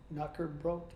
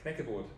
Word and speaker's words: Knäckebrot: But sure, I like those German crackers you guys make, Knackerbrot. Knäckebrot. Yeah, thank you for pronouncing that for me.